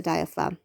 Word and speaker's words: diaphragm: to know about the diaphragm it shapes like a dome it sits under your lungs and that g in its name is totally unnecessary it's a silent g apparently the head of